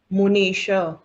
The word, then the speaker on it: मुनीश: मुनीश मुनीश नी दीर्घ है।